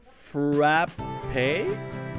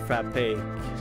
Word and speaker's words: frappé: It always confuses me because there's a schwa, which is the E with the little thing. And whenever there's that, you're supposed to pronounce it A.